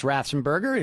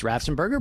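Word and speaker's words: Raffensperger: whoever is functioning as ratzenberger at this point it's rafsenberger but the secretary you said it three times so i had to correct you it's uh of course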